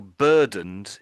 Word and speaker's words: burdened: So although it's e d, the sound I'm making at the end is just a d sound. Although it's e d, I'm just making it a duh, I would say.